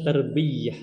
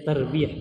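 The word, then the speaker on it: تربية: jatuh dalam kesalahan itu ketika mereka bilang tarbiah tarbiah ini mereka sering membacanya dengan tasdid di atas ynya padahal gak ada Banyak yang bilang tbiah seperti itu ya Tapi aslinya gak ada dia tarbiah seperti itu tbiah Eh soal ada pertanyaan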